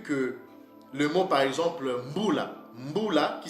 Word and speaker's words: Mbula: vous avez vu que le mot par exemple Mbula, Mbula qui s'écrit M-B-U-L-A avec la lettre L, Mbula en Lingala, mais en Shona du Zimbabwe ils disent Mbura.